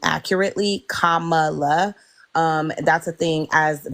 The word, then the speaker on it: Kamala: Kamala um and let's say her name accurately Kamala um that's a thing as black people we